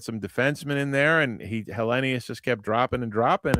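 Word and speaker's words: Helenius: The 3-syllable pronunciation of his last name now. The 4-syllable pronunciation's out, I guess. We're Hellenus now.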